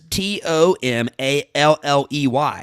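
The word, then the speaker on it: tomalley: like a t-a-m-a-l-e so this is t-o-m-a-l-l-e-y that's what was confusing me t-o-m like tom and then a-l-l-e-y all one word tom alley tamale totally i bet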